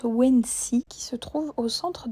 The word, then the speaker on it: Odense: Nous arrivons dans la ville de Odense, mais je crois que ça se prononce Wensi, qui se trouve au centre de l'île de la Fionie.